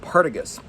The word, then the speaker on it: Partagas: I call it Partagas. Some people call it Partagas. Call it whatever you want.